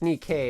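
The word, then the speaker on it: Nikke: So in this case, Nikay, I call it Nike, but I guess the real way to pronounce is Nik K.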